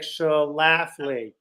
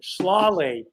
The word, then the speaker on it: Schlafly: funny she pronounced it slawley and i looked at her and i looked at the pronunciation and i thought you mean like the word slaughter and she said yeah